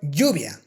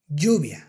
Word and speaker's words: lluvia: And if you ask me, I would say that if you want to pronounce the Spanish Y, you should pronounce that with the J sound rather than the English Y.